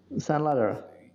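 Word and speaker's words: Sanladerer: San Ladera.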